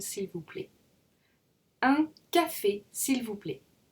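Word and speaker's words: s'il vous plaît: plait s'il vous plait remember that T is silent in s'il vous plait and defi s'il vous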